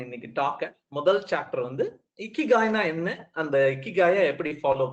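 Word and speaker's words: 生きがい: நீ இக்கிகாய் சொல்லும் பொழுது கண்டினியூஸா சிரித்து கொண்டிருக்க வேண்டும். அப்படி சிரித்து கொண்டு உன்னுடைய அந்த ஜோக்கர் கிரின் மாதிரி இழுத்து கொண்டிருக்கும் போது உன்னுடைய வார்த்தைகள் வந்தால்தான் இக்கிகாயை சரியாக சொன்னாய் என்ற அர்த்தம் அப்படிங்கிறாங்க.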